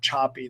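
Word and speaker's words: Szapi: a researcher named Eva Choppy. That her last name is spelled S-A-P-I.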